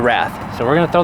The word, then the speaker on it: Wrath: here goes the Wrath I keep want to say wraith cuz it's spelled like an in of a wraith but it's a wrath so we're going to